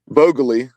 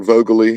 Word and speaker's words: Vogeli: Jack, straight from Jack, that it's Jack Vogeli, not Jack Vogeli. Yeah. Definitely not trying to call anyone out there, but just heard that pronunciation, so I was like, well, maybe they're right, but I'm pretty sure Jack told me that it was Vogely, and so I reached out and confirmed that, and yes, it is in fact Vogely.